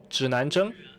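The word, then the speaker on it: 指南针: Así que ustedes pueden aprender cómo se pronuncia estos tres caracteres. Zhinanzheng, brújula.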